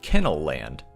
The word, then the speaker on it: Ken-L Land: primarily after its sponsor Ken L land was also a little play on the Disneyland name too as you could also pronounce it kennel land I'm really hoping that